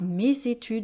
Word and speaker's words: mes études: mes études alors voyez on dit bien par mes études on fait la liaison le s est devant le E avec un accent donc on fait ce sont Z mes études parce que on va donc faire la liaison vous voyez on a